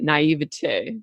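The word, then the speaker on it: naïveté: have that drive, but it's often coupled by naivete.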